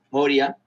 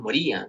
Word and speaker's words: Moria: Y hay unos árboles, Moria, me olvidaba cómo se pronunciaba, porque es un crimen pronunciar mal ese nombre. Y ¿Moria? están unos, sí, porque unos decían Moría, no sé cómo le decíamos. ¿Qué? ¿Quién dice Moría? No, jamás escuché que dijera Moría.